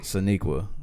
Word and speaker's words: Sonequa: Sonequa.